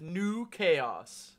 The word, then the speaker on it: NuKhaos: We are doing our first little collab with NuKhaos. That's N-U-K-H-A-O-S, spelled like Good Burger. Pronounced the same way. It's French. It's exactly the same.